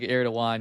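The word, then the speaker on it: Erdoğan: And then the G with the the kind of thing on it is like a a W or like like it's like it's like it's like Erdogan. Yeah. Like aaan. Yeah.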